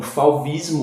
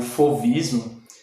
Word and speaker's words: fauvismo: o vídeo é bom fauvismo ou fovismo netão ele também possui essa pronúncia forista né é esse surgiu